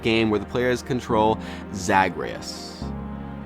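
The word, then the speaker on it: Zagreus: action Road likee game where the players control zagreas zagreas I think that's how you say his name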